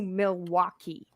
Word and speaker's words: Milwaukee: First of all, it's pronounced Milwaukee. Milwaukee. What do you mean I'm saying it wrong? I said Milwaukee. Milwaukee. Milwaukee. Milwaukee. Milwaukee. You don't say There's the an L. L. It's We don't Milwaukee. say the L.